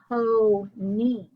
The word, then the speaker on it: pony: In this word, it is two open syllables. Pony.